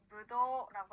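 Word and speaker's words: ぶどう: 발음 연습해 볼게요. 코리, 코리 코리. 코리 네, 좋습니다. 자, 포도는요, 일본어로 무도라고 합니다.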